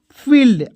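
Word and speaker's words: field: एफ आईई एल ई डी क्या हो जाएगा फील्ड अब कैसे लिखेंगे देखिए एफ से फा होता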